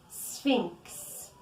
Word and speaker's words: sphinx: in ancient Egypt let's pray attention to the pronunciation Spinks woods woods is a forest generally a small